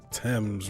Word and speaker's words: Thames: That mansion's across the Thames River. That's how you pronounce that.